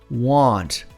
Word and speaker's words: want: Want. Want. Não o ante, mas sim want.